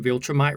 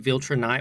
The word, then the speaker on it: Viltrumite: While I was editing the video, I realized I was pronouncing Viltrumite wrong. I was pronouncing it Viltrunite with an N.